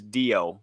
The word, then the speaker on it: Dio: Sound like deodorant. Yeah. The short version.